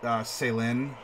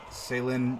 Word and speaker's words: Saelihn: name it should be super elvish like sale in sale in Brighton sure or or breathin depending on how you want to pronounce it she's not gonna get